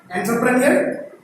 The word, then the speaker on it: entrepreneur: It is not entrepreneur, it is entrepreneur.